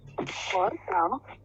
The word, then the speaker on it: 葡萄: 葡萄， Yeah, 葡萄. 葡萄， Yeah, 葡萄. The second syllable is very light.